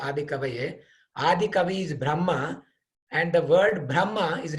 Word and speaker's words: Brahma: So the Brahma with a long A is Lord Brahma, and with a short A is the Vedas.